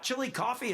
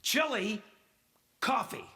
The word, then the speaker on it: Chillicothe: No, just it sounds almost like coffee at the end of the name. Oh, The opposite of hot off the presses. Chili, coffee, coffee, Koofy.